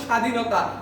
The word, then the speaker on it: স্বাধীনতা: আমরা জানি যে শব্দের শুরুতে বফলা আসলে উচ্চারণ হয় না, উচ্চারিত হবে না। যেমন স্বাধীনতা, স্মরণ, এগুলোতে বফলা উচ্চারণ হয় হয় না।